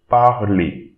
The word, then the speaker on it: parler: Okay, the ER at the end of a verb, you read it A. So, parler, parler.